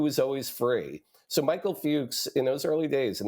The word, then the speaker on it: Fuchs: television, I really want to be sure, Michael Fuchs, and Hmm. who was and I'm pronouncing his last name right?